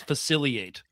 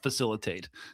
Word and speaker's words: facilitate: but I do like how you pronounce facilate and not facilitate. Oh, yes. Sorry. Facilitate. Sorry.